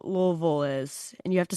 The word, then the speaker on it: Louisville: I'm going to go Goosey because I'm not quite sure how Louisville is.